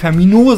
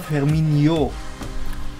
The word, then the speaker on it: Firmino: Also Firmino. Wie bei Ronaldinho, dieses INHO. Skilaktinho. Genau, weil es nervt ja, wie Kevin die Namen ausspricht manchmal. Es geht. Es heißt nämlich nicht Firmino, sondern Firmino.